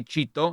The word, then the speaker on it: Chito: that nickname and in Spanish we just say Chito and it's spelled c-h-i-t-o and Cheeto is the the snack